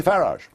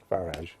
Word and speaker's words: Farage: how to pronounce it I say farage farage yeah as as I would say garage very well but thank